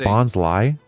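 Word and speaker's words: Bonsly: Is it Bonsie? Maybe. Allan's the expert. Rhymes with Bonsai.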